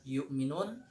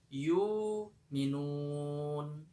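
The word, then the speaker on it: يؤمنون: wabil akhirati hum yuqinun Perhatikan perubahan yang terjadi pada bacaan riwayat warsat yukminun yang awalnya kita baca yukminun pada bacaan riwayat warsy ini kita membacanya dengan ibdal hamzah yaitu yumun.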